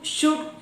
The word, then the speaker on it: should: If L comes before D, as in would, should, could, etc., L is not pronounced.